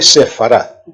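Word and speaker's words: ספרד: de derecha a izquierda la que tenéis más a la derecha es la letra Sam se pronuncia como s luego la letra p se pronuncia en este caso como F puede adoptar los dos sonidos p y F luego la letra res sonido de r y la última es la letra tet sonido de d y eso se le sefar sabéis que en hebreo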